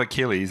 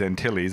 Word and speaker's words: Antilles: back Antilles he'll rhodium not Achilles Antilles I did pronounce that right I wonder if it's